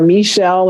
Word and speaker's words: Meshell: social media handles are michelle and that's spelled me and then like shell like the seashell m-e-s-h-e-l-l-r so at